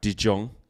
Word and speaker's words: De Jong: thinking frankie frankie frankie dion frankie dion people are saying i was saying it right de jong there's even that yeah